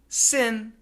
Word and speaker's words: sin: they do sound similar the N is made when the tip of your tongue touches your Alvar Ridge that's the part that sticks out behind your upper teeth inside the mouth n n Sin Sin and the tongue doesn't move it stays there and there is vibration Now sing sing when